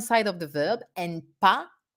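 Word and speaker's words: pas: of the verb and pa do not pronounce the final s on the other side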